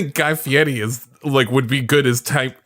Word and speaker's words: Fieri: It's Fieri. Fieri. Fieri. Fieri. Fieri. It's Guy Fieri. It's like a Yeti.